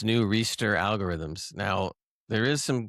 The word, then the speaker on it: ReSTIR: Are you pronouncing that correctly? Restir. Yeah, I talked about restir last no, time. you're right. It's like capital STIR.